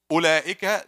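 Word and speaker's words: أولئك: Ulaika, there's waw, but it's silent. It's actually silent.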